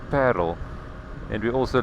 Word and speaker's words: Paarl: Paul is is that in Africans you pronounce it completely different you of course talk about paril and we also like